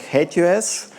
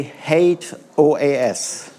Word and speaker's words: HATEOAS: So you can pronounce it a little bit like like the word hideous like hate us. Please don't say hate OAS.